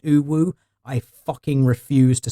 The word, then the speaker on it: UwU: Chat is now grilling me over my pronunciation of UWU. I know it's supposed to be pronounced uwu.